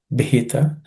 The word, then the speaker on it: भीता: Te bhita, the bhi is aspirated bhita.